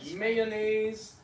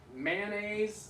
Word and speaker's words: mayonnaise: guess yeah you know different people in different parts of the country pronounce it differently so it's like mayonnaise mayonnaise I heard it two syllables like that uh sometimes they reduce